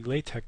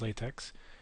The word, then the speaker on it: LaTeX: to create the equation and then copy the LaTeX notation. I know it looks like it says latex, but it's pronounced LaTeX.